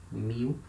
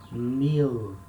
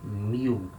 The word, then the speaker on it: mil: it means 1000 mu when letter l comes at the end of a syllable in the in the speaking we substitute letter l for the letter u and we say mu we don't say meal remember letter l has the le sound flappy scally so the tongue goes to the upper mouth la but we don't say meal we say mew we make a the